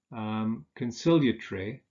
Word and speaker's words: conciliatory: Now, with those adjectives that have 4 syllables, that consist of 4 syllables, we usually stress the second syllable. So we say respiratory, conciliatory, defamatory, explanatory.